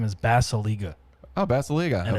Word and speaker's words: Basalyga: My last name is Basaliga, Oh, Basiliga. and Okay. it's spelled like Basalyga.